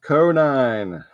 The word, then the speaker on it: Conine: It rhymes with bovine. Yes, Fred, you are correct. It was Jeff Conine.